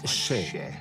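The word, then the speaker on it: še: ici un épid d'orge le mot orge en sumérien se prononce che donc un sumérien voit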